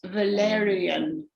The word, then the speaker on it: Valeriane: My name is usually pronounced Valerian.